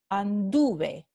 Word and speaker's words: anduve: la terminación es e y se pronuncia hable entonces la sílaba tónica no es es esta en la terminación la vocal tónica está